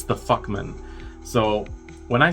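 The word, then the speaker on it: Fuchman: something on the lines of like it's the fuckman. So when I say fuckman, it's spelled f u c h m anan, but it's pronounced f u c km an.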